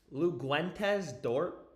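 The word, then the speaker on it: Luguentz Dort: Best value would be um dude, how do you how do you actually pronounce Lou's name? Luguentes Dort.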